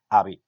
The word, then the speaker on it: Abib: Es abril, pero se pronuncia, porque así se escribe, Abib.